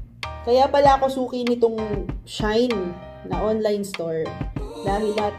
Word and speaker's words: SHEIN: Pero ang sabi, ang dati, yung pagkaka-pronounce ko sa kanya dati, Shein. Siyempre, ang mommy vlogger, nag-research how to pronounce Shein. Yung pala, Shine. Shine pala ang tamang pronunciation niya.